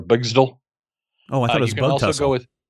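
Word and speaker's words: Bgztl: Phantom Girl is actually from an alternate dimension called, I pronounce it Bigzitl or Bigzdal.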